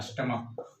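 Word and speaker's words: stomach: example में लेते हैं स्टमक स्टमक में देखि स्टमक में सीच का उच्चारण य च नहीं हो स्टमक का उरण क्या होगा को मोनार्क एम ओ एन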